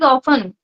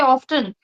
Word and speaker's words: often: One other word is often. We put t silent here but people say often.